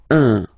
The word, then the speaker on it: un: to pronounce it like un. So it's what we call the nasal, so it goes in your nose, okay? Un. So if you listen to me, you don't hear any N, okay?